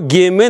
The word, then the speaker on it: геме: Слово «геме», наоборот, «гем» произносится. Там нет «э» в конце.